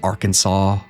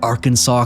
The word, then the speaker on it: Arkansas: the Fouke Monster in a small town in Arkansas. Yeah, that's right, I said Arkansas correctly this time.